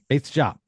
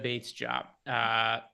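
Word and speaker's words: Bates-Diop: Greg, I gave you so much credit for pronouncing that name correctly, and now you're screwing it up on air. Yep. Bates Jop. Keta Bates Jop.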